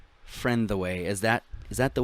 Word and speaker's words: Frentheway: pretty much yeah okay friend the way break it into three syllables okay okay but it's not like okay so it's more but there's more like a soft th not a like a